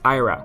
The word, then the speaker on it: Ira: wrong this whole time it's not AA it's Ira I think AA staring